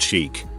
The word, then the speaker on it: chic: Chic is a French word, pronounced chic, that roughly translates to fashionable. But when referring to a young woman, the word you want is chick.